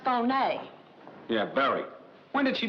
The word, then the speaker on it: Fier: who's he tomorrow a genuine Pearl Alexis Fier pronounced Fon yeah very when did she meet this guy